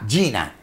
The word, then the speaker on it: GINA: valioso, que se llama, lo voy a decir en español, G de gato, I, N-A, Gina, se escribe Gina, y que es una sigla, G-I-N-A, y que básicamente, que se transforma.